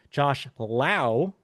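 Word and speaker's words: Josh Lowe: But yes, not to be confused, Josh Lao, even though he's spelled the same way, is pronounced differently.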